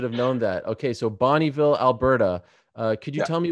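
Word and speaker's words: Bonnyville: Also, it's pronounced Bonneville, so I'm just going to correct you now. Oh my gosh, I am so embarrassed. The disrespect. Yes, I should have known that. Okay, so Bonneville, Alberta.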